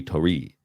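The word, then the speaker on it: torii: an extra e tori tori and that extra i where we pronounce it e tori is the gate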